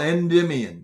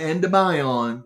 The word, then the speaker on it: Endymion: It's called Endymion, not Endymion, like some people pronounce Endymion, which is all named after some mythical god or goddess.